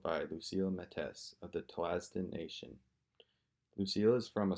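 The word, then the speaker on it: Tl'azt'en: I'm from the Tlasden Nation. Can you spell it?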